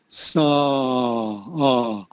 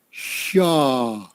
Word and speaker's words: saw: I think I sort of heard you say shaw, but no. I have another Vietnamese student that does that. When she says the word saw, she says shaw, but saw.